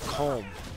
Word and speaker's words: comb: that always gets me is the comb because the b is like so silent yeah you know comb like a comb for your hair yeah comb for your